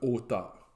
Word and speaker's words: auteure: Mais j'opterais pour le auteur. Bon, avec le E muet à la fin.